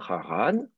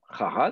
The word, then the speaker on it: Haran: Donc, vous avez le toponyme, Haran, voilà, qui, normalement, l'accent est bien sûr sur la dernière syllabe, Haran, quand on ne précise